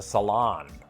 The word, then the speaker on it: salon: The emphasis on the second syllable, as in the salon.